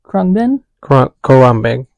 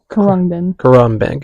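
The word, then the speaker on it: Khruangbin: Chapel rone win this kin is how you pronounce that kin Corin kin Corin okay that's the only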